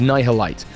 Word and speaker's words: Nihil Light: Also sounds like annihilate. I kept saying it wrong in earlier videos, but it's nylite.